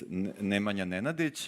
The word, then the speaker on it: Nemanja Nenadić: Well, yeah, first about pronunciation. For those interested, it's Nemanja Nenadić, and I used to work in court 25